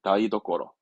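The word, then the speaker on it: 台所: 발음은 되니까 다이고 도꼬로. 예, 다이도꼬로.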